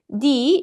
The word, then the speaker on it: 내: 내 sounds almost identical, Korean people kind of unconsciously try to distinguish between the two, and so they usually pronounce 내 as 네 in real life, in spoken form.